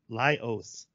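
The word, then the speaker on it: Laios: uh Le Leos lios I wrote down his name so I remember how to pronunciate it it's Li lios lios being yelled at by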